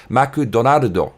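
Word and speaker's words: マクドナルド: Also, McDonald's in Japan is pronounced Maku Donaldo.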